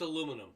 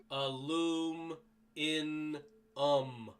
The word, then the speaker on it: aluminum: can't pronounce words properly it's aluminum there we go a loom in um aluminum fail to pronounce